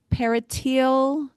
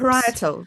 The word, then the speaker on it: parietal: Par per parital loes. The parietal. Yeah.